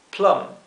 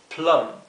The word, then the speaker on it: plum: inglés ciruela se dice plum plum Recuerden que la u en inglés se pronuncia e e verdad salvo excepciones generalmente se pronuncia así e o sea esto es plum para palta o aguacate